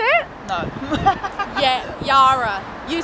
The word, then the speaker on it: Yarra: Of course, how do I pronounce? This is the Yarra River. Did I say it? No. Yarra.